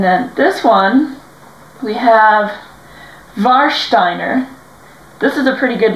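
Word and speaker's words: Warsteiner: this one we have varshsteiner this is a pretty good lager it's really nice it's very fresh tasting um The W would be pronounced with a V so VAR and then it has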